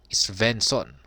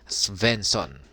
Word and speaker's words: Svenson: iba kundi si Kevin svenson yan silent s po siguro venson yan at siya po